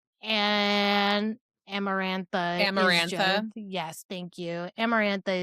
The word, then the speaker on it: Amarantha: her, but I also understand because I can't pronounce her name correctly. And Amarantha is Yes, thank you.